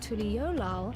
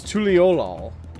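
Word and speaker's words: Tuliyollal: a few things about Tuliolal and the rite of succession. See, it's not pronounced that way. You lied to me. it's not pronounced how you put it. It's not Tuliola. It's Tuliolal. You're wrong.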